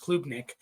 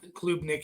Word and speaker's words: Klubnik: I think it's pronounced Klubnik, out of Clemson. Cade Klubnik here.